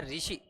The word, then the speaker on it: ऋषि: कहेंगे मैंने कहा है जैसे ये कहा है ऋषि और मैंने कहा है ऋषि अब इनका उच्चारण करेंगे उच्चारण करेंगे तो बिल्कुल एक जैसा